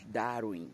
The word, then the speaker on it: Darwin: Jean Batista Lamarque e Charles Darwin, que a pronúncia é mais Darwin, né, Darwin, mas a gente continua chamando de Charles Darwin.